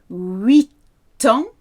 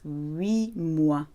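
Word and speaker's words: huit: 8, 8 ans, 8 months, 8 mois.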